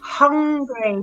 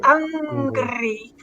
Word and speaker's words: hungry: i noticed as well where you need to accentuate the h is hungry because otherwise i understand arabia don't say hungry hungry so i'm hungry hungry and whoever just said angry that's another thing you've